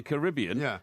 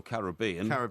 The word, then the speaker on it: Caribbean: When the cops moved on him, he was still a free man to move around in the Caribbean. Or Caribbean. Well, the Caribbean is the American pronunciation.